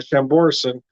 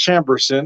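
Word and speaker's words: Chambourcin: so I've been pronouncing this wrong I've been pronouncing it uh samborson apparently it's pronounced chamberson because I was corrected recently at a winery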